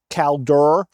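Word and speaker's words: Kaldur: Calur.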